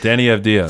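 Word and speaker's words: Deni Avdija: Danny Avdija.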